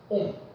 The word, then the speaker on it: 옴: 오메가. 근데 요거를 갖다가 우리는 옴이라고 읽어줍니다. 옴.